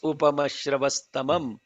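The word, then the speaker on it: उपमश्रवस्तमम्: If the Visarga is followed by a ta, Yeah. then the S Becomes gets ta. introduced and therefore it becomes a Yeah. stamam instead of tamam.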